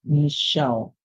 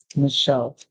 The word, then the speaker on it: Michelle: than hearing like lunch we hear sh like a machine sh the ESS s so